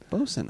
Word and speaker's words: boatswain: Bosun is the way it's pronounced.